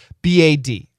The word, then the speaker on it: bad: Words that end in the following consonants D or T, B or P, G or K are often stopped before making the full sound.